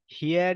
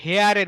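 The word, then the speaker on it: here: expression ব্যবহার করবেন ইয়েস হিয়ার ইট is sure হেয়ার ইউ আর ইয়েস হিয়ার ইউ গো এখন এই হেয়ারের উচ্চারণটা এটা হচ্ছে আমরা নরমালি আমাদের ইয়েতে বলি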